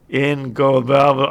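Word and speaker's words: Ingobernable: Dave, it's pronounced Ingobernal. I can't say it. Ingobernal.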